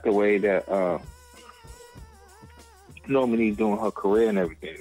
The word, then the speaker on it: Normani: Normani, that's her name.